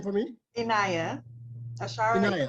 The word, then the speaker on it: Inaya: Could you pronounce that name for me? Inaya. Ashara Inaya. Inaya.